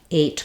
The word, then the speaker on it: eight: Fong and then ght the GH is just silent and we say the T sound the GH probably affects